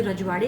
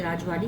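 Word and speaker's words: राजवाडे: अब देखो यह आप कोई लोग इसे रजवाड़े कहते हैं, कोई राजवाड़े कहते हैं, कोई राजवादी कहते हैं।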